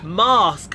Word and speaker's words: Marske: Marsk, when you walked in there, and that's by the way, that's not Marsk me being the posh person. Marsk is spelled Marske.